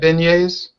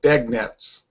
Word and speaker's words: beignet: that what about you uh har you've had beignet no no never heard of them if you look it up on the internet looks like beg Nets begets that's the French way of French way